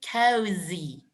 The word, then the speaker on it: cozy: Now, the pronunciation of this one is cozy. Z. To make like a vibration.